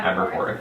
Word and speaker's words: Aberforth: Aberforth.